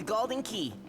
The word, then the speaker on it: Galdin Quay: Welcome to Golden Key. That says Galdin Quay. I will accept no other pronunciation.